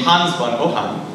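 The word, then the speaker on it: Hans von Ohain: Now, this hadn't really came to any fruition until the mid-1930s when a young German scientist named Hans von Ohan, again, German pronunciation, came up with his theoretical idea for the first turbojet.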